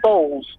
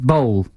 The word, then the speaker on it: Boll: Uwe Bowles. Yes. Uwe what? It's Bowles, isn't it? But I think bowl, is it bowl? Or balls? But I think it's just bowl, isn't it?